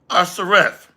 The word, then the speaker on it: Arzareth: Arzareth, pronounced Arzareth, a region beyond the Euphrates River, to which